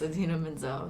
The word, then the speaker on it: Idina Menzel: I don't know what exactly he said, but he completely butchered her name. Oh, Butchered it. So when awful. when you got it right, I just totally thought about that. Yes, Idina Menzel.